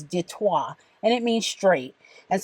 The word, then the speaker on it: Detroit: just referred to as Detroit Michigan Detroit was named by the French and the real pronunciation is detour and it means straight